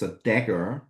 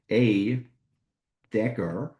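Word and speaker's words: A†: So we pronounce this as A dagger. It's not a plus because it's more like a cross. So it's an A, or in the visualization, a dagger. So A dagger.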